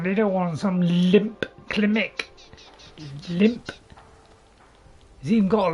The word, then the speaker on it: Klimmek: Also, a limp clinic. Did I say a limp Klimmek? Klimmek, not clinic.